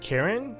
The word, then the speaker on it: Charon: this this is cool it's pronounced karen okay well you know